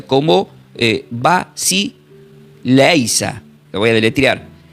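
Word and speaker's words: βασιλεία: Entonces, la palabra cuando dice reinos, que le mostró los reinos, es una palabra griega que se pronuncia como eh vas leisa.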